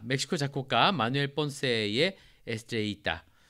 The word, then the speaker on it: Estrellita: 자, 멕시코 작곡가 마누엘 본세의 에스트레이타, 뭐 에스트레지타 이렇게 강하게 발음하는 사람들도 있더라고요. 그쪽 사람들.